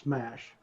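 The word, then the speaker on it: SMACH: if I thought people the people that wrote that said it should be pronounced smash which it should be pronounced smash which it doesn't look like that to me but that's what they claimed so it looks like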